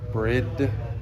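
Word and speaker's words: BRIDE: Got titanium exhaust up here, some Alcon calipers, RB26 covers, some Brid seats, Brid seats. Just so everyone knows, that's how you pronounce it.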